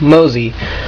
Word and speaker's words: MOSIE: new 3x3 method I came up with called mosy mosy is spelled MOS I as you can probably tell